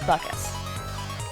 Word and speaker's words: Bacchus: in the Portuguese language, which is why I pronounce Bacchus as Buckus. It's just the way I was raised, it's my heritage, and it's the way I was learning Portuguese, it's the way it sounds.